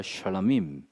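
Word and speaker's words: שְׁלָמִים: 샬라임. 예. 쉐 앞에다 좀 발음을 좀 특별하게 힘을 주십시오.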